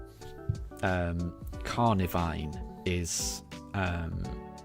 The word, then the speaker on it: Carnivine: Carnivine, but for some reason when I was playing the games I read it as Carvinine and I've always called it Carvinine and it's it's I'm it's wrong. I know it's wrong, but I'll always end